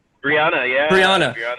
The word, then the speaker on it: Breonna: Am I saying it right, Breonna? Brianna, yeah, Brianna, Brianna, right.